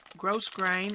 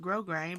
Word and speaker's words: grosgrain: big variety of grow gross grain and that's actually how you're supposed to pronounce that i always heard it pronounced grosgrain but it's gross grain it's got spelled and